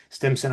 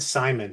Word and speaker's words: Stimson: If it makes you feel better, the sheer number of ways I have heard my name mispronounced over my lifetime, Simon is relatively minor. The one that confuses me most is Vincent.